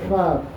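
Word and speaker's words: पाप: It's not Papa, it's Pop. A is silent.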